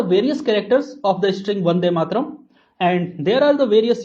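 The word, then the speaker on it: वन्दे मातरम्: The string is Vande Mataram, pronounced as Vande Mataram.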